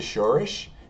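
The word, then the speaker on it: שורש: Alright, so here we have the Shoresh. It's spelled in Hebrew, Shin, Vav, Resh, and Shin.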